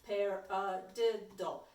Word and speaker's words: paradiddle: before we do this a paradiddle sounds like the word okay so you can say pair dull pair did dull pair the dull pair